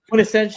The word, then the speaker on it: quintessential: Quintessential.